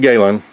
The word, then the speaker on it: Galen: need to check this writing box out at gallon letters is that how you say it Galen Kayla alien yes okay okay leather so I'm